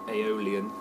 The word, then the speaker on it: Aeolian: influence with the other one is the things pronounced Aeolian the Aeolian scale which is is a bit